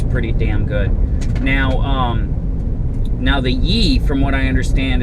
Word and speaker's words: Yi: Now the Yi, from what I understand, it's spelled Y-I, is supposed to be a pretty